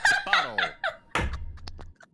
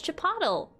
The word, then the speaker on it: Chipotle: Bottle.